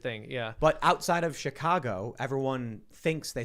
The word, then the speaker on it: Chicago: in the city like actually pronounce the word Chicago It's an without the ah. accent. It's a weird thing. Yeah. But outside of Chicago, everyone thinks they say Chicago.